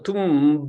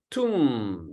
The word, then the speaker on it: tomb: It's not a tomb, but tomb. The B is silent, like comb, tomb, womb, okay?